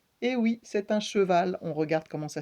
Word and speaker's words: cheval: On entend deux syllabes, donc si on doit l'écrire, on écrit d'abord che avec un CH qui fait ch, et le E, che, et ensuite on entend val, v, le V, va, a, le A, cheval, l est à la fin, c'est le L, c'est un petit trait comme ça.